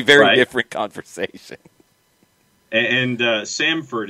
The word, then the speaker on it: Samford: different conversation and uh samford is the university in birmingham not sanford again that that's just that's nothing to do with this john jordan and jordan are spelled the same way stanford and sanford and samford are not spelled the same way so they have nothing to do with one another they're a letter off yes yes people getting